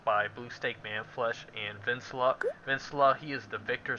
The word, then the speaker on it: Venansula: He's like, it's pronounced Vincula, not Venezuela.